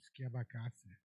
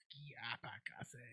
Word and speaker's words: Schiavacase: Skipakazi. Yeah, it's SKIAPAKASE. That's how you pronounce the last name, Schiavacase. Schiavacase.